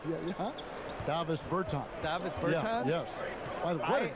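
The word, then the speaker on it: Dāvis Bertāns: Oh, well now, at this point in my life, it's Davis Bertans. Is that how you say his name? Yeah. Davis Bertans.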